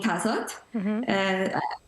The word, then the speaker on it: 다섯: For example, with the words that end in a final consonant like 다섯, meaning 다섯. Many students tend to say 다섯. So, adding an extra T sound at the end.